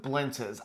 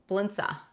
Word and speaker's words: blintz: have an a on the end of that blindsa you say it like that that's how you pronounce it but yeah it's actually blintz it well it's an e at the end